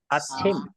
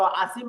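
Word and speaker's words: 아침: এটাকে যদি আপনারা ওই যে সিওতের মতো আসিম বলেন তাহলে হবে না, এটাকে আসিম বলা যাবে না, এটাকে বলতে হবে কি? আচ্ছিম।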